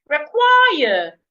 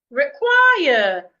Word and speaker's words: require: Require. Require. I'm stressing the second syllable.